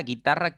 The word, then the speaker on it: guitarra: Porque simplemente la U no se pronuncia. ¿Listo? Tú dices guerra, guitarra, querido, no guerra, guitarra ni querido, ¿sí?